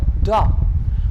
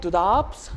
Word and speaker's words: drap: So sheets or the bed sheet, we have the word drap. Like its pronunciation will be like DHRA, drap. Not like drapes, not like drapes, it will be drap.